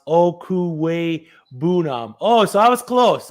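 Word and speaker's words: Okwuegbunam: uzama take it from him as you guys pronounce okuwei boonum oh so i was close i wasn't right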